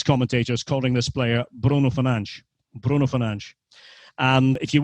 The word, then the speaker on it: Fernandes: But I'm afraid to say that Bruno's name has been horribly mispronounced since he arrived at Manchester United. And it shouldn't be that hard. I would wager both of you guys could say Fernandes quite easily.